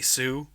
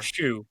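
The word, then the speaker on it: Hsu: Unsure on how to pronounce her last name, but Stephanie Sue from Everything Everywhere. Shu.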